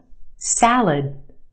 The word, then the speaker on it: salad: problem what's the problem try this one salad salad where's the stress in that word salad if you said the first syllable you're right the a sound in the first syllable salad the second syllable is our schwa it said very quickly and we have that sound salad salad i'll try the salad